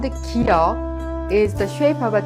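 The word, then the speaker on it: ㄱ: This sound has the shape when you pronounce the final consonant kiok in kak. However, when pronounced as the initial sound, it is pronounced soft K or G.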